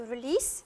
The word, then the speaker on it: release: Synonym of let out, it is to release, with an S pronounced, not a Z, it's a S sound.